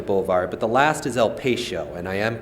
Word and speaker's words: El Patio: west down Excelsior Boulevard, but the last is El Patio, and I am pronouncing that correctly.